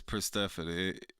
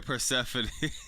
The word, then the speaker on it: Persephone: You said it right. Oh, all right. Yo, what's up, Jordan? What's poppin'? It's Persephone. Yeah, Persephone. Yes. I heard Tony Schiavone said it. Tony Schiavone said it like 100 times.